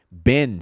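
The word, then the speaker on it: bin: Em palavras menores, o I tem som de E. Certo? Então aqui a gente diz Ben, é mais pra Ben do que pra Banin, não é o Mr.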